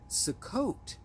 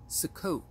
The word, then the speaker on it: Sukkot: So our fast fact number one is Sukkot. Sukkot, S-U-K-K-O-T, is another name for the Feast of Tabernacles in the Hebrew language.